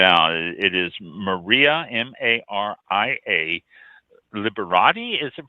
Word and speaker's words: Liberati: to check it out it is maria m-a-r-i-a liberati is it pronounced liberated yes liberati uh-huh liberating l-i-b-e-r dot com and go to